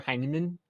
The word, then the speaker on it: Heineman: Heineman, I'm the goat at name pronunciations, but Tyler Heineman, right?